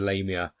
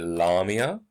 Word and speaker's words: Lamia: welcome to the first video lesson about Keats's Lamia it's a monster of a poem quite literally